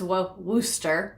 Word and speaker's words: Worcester: Worcester is pronounced Worcester.